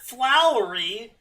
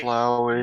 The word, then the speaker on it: Flowey: Flowery. Sorry. Flowey. No, It's sorry. just Flowey.